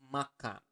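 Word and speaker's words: makan: properly in basa but basically to eat is Maka okay repeat after to me MAA okay Maka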